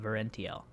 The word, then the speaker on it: Verentiel: In case you want to know how to say it, it's called Verentiel.